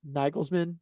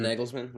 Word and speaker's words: Nagelsmann: the tactical battle that how How do you pronounce his name correctly? Nagelsmann. Did I say that correctly? Mhm. The Julian Nagelsmann.